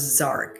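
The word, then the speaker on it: Jark: One of the the council members, his name is Zark. It's spelled J A R K, pronounced like Z A R K.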